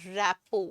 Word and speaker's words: rapport: idiom that is in rappo please note the pronunciation to in rappo a teacher and a